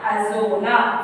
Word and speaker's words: Azolla: Pronounce it correctly, children. Equisetum Azolla.